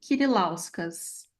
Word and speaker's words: Kirilauskas: @ Kirilauskas. O nome, né? Kirilauskas, Kirilauskas. Kirilauskas. Da mesma forma que ele pronuncia, é escrito, mas quem olha pela primeira vez é complicado mesmo.